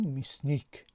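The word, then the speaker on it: мясник: این کلمه هم دو هیجا دارد، میاس و نیک، زده در هیجای دوم افتاده است و یا در هیجای یکم که زده ندارد تبدیل شده است به چی؟ ای. ما تلفظش میکنیم میسنیک.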